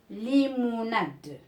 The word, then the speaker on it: limonade: Limonade. Limonade. Alors ici, c'est deux et j'ai dit E à la fin du mot, il ne se prononce pas.